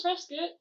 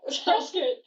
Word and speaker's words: Prescott: Prescott. It's Prescott. Prescott. Whatever. Alright. It's how Prescott, let's- the city in Phoenix, is pronounced.